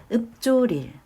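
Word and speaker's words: 읊조릴: 읍조릴, 읍조릴. 네. 읽어보니까 약간 읍이라고 발음이 난 다음에 강해졌어. 쪼 이렇게 발음이 나는 것 같아요.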